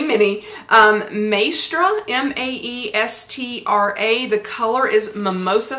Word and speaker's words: Maestra: So this is the handbag that I chose to get, and I'm probably going to mispronounce the name. It is Mini. I can say Mini. Maestra, M-A-E-S-T-R-A.